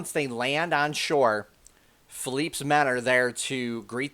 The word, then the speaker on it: Philippe: Once there, Philip greets them. And Philippe, I should say, I'm sorry, I keep pronouncing his name wrong.